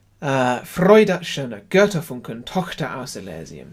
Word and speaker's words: Elysium: There are lots of different ways to pronounce this word. It's a strange sort of Latin word that's ended up in German being sung by English people, but let's just go for Elysium, just for simplicity's sake.